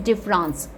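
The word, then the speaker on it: différance: is called logos and प्रिसिज्म okay next guys डिफरेंस this is नॉट डिफरेंस this is the another spelling डिफरेंस डी I double F ई आर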